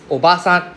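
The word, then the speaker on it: おばさん: There's actually a long vowel for Japanese, right? So, basically, we have all the underline above the certain letter. That one means long sound. Okay. So, for example, obasan is simply aunt. Obasan is grandmother. So, please don't accidentally call auntie grandmother.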